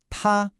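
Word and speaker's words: 他: Ta, pronounce ta. This is the first tone. I want you to think of it as high and flat, almost like you're holding a note when singing. Keep your voice at the top of your natural range.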